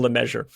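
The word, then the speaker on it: LeMessurier: It looks like leasure or something, but it's apparently just pronounced Bill Leameasure.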